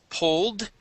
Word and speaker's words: pulled: Uh, let's go to um pulled. All right. Right here. If it ends with an l pulled, and we put an ed, that d is a d. Okay. The ed is a d sound.